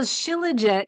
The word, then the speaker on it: Shilajit: going to remember that so this sounds really nerdy but too legit to be that's how I'm remembering how to say it right so chillet is a mineral Rich